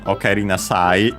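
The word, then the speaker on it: おかえりなさい: By the way, the accent of the full phrase "okaeri nasai" is, according to the usual online dictionary plus plugin combo, is on the last syllable, but on the sa, of course, because the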